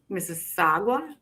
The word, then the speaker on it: Mississauga: You say Mississauga.